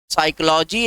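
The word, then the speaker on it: psychology: है जिसमें W silent, साइकोलॉजी एक ऐसा शब्द है जिसमें पी साइलेंट, लेकिन फास्ट शब्द में कोई साइलेंट।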